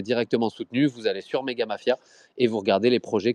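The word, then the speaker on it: Mega Mafia: Vous avez le Twitter de Megga Mafia, donc c'est AT Megga Mafia comme ça ça s'écrit comme ça se prononce.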